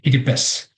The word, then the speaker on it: Kiribati: The name is Kiribati. That's how you might pronounce it here. The TI at the end sounds S, so we say Kiribati.